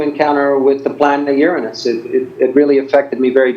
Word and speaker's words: Uranus: Most people don't, but we scientists are anally retentive about the pronunciation of Uranus.